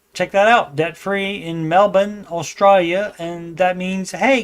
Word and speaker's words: Melbourne: Hey everyone, I'm 20-year-old college student from Melbourne is how they say it. Melbu N. Even though it's spelled M L B O U R N E, they say Melbourne, Australia.